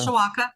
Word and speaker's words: Mishawaka: Is that how you pronounce it? Mishawaka? Yep, Mishawaka.